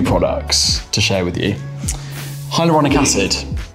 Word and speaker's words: hyaluronic: It sounds terrifying, but yeah, it took me about 6 months to learn how to pronounce it. And now that I've got it, I just keep saying it to everyone. Hyaluronic?